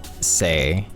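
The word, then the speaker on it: Sei: Oh, it is supposed to be pronounced Say.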